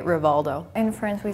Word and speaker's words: Rivaldo: art I got you in Brazil we say hial I can yeah from now I can't even get after honalo and honalo the names like mostly r r so when it is at the end it's more like an R something yeah in Turkey rialo